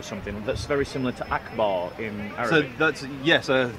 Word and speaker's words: Akbar: Akbar, and it's pronounced akbar.